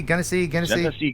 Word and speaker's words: Genesee: Tell us your involvement in the court case in how do you pronounce it? What county? Genesee? Genesee County.